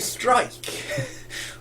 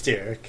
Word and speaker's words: Styrke: some of the staff were calling her, Tove Strike. But it's definitely the Y before the R, so it's Styrke, and I think she even pronounced it Styrke.